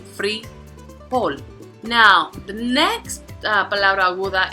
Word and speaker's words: frijol: So we can see it has two syllables. So the prosodic accent is on, which is the last, frijol.